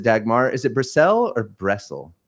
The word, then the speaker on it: Bressel: How do I pronounce it, Dagmar? Is it Bressel or Bressel? Bressel.